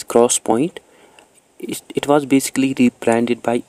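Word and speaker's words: 3D XPoint: Then fifth जो है that is 3DX point, which is pronounced as cross point.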